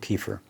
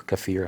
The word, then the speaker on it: kefir: uh milk here some milk kefir or cafir however you want to pronounce it a little uh couple